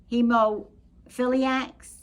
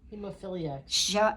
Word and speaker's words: hemophiliacs: It was a year of anti-smoking, anti-abortion, anti-drinking, gays, addicts, heoiliacs. How do you say the word? Hemophiliacs.